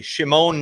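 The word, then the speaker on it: Šimon: Shimone Nemitz. That's That's the official Shimone.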